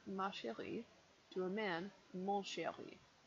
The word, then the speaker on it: mon chéri: Follow with my darling, to a woman, ma chérie, to a man, mon chéri. Mon chéri, the N is nasal.